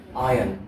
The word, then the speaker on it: iron: we have iron again we do not pronounce the r sound there iron iron because iron I am